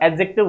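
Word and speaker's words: adjective: है ठीक है हा इसमें देखो एडजेक्टिव जो वर्ड है इसमें डी साइलेंट रहता है का प्रसन नहीं होता एडजेक्टिव होता है एडजेक्टिव नहीं होता ठीक है हा एन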